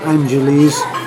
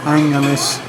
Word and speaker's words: Angeles: had my glasses on, is Angeles City, not Angeles, Angeles, soft G.